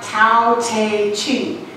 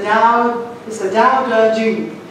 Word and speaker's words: Tao Te Ching: It looks like Tao Te Ching, but it's the Tao Te Ching.